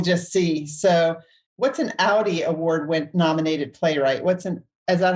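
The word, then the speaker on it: Audie: So, what's an Audi Award nominated playwright? Is that how you pronounce it? Audi, yes.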